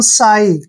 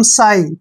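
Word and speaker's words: sigh: करेंगे इसको पढ़ेंगे हम साई क्यों पढ़ेंगे दोस्तों जब भी जी और एच से पहले आई आता है तो वहां पर जी का और एच का उच्चारण हम नहीं करते ठीक है तो इसको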